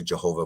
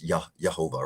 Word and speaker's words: Jehovah: Well, no, it's because we pronounce, let's say Jehovah, but it's Yehovah, right? Like, so in Hebrew, there's no Jah. It's all Yah.